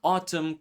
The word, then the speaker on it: autumn: Words like autumn, column, condemn. The n was once pronounced but later dropped.